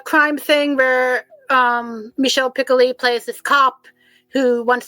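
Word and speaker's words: Piccoli: It's a really good um thriller and she plays um it's also um Michelle Pickley um I think that's how you say it and would be the French way of pronouncing it.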